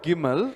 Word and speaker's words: gimel: ये जो गीमल जो वर्ड है, The word gimel, इसका एंशिएंट प्रोनाउंसिएशन जो है गमाल है। the ancient pronunciation to it is gamal. गमाल बोलेंगे तो Gamal means दूध पीना छोड़कर to leave drinking milk hard food खाना।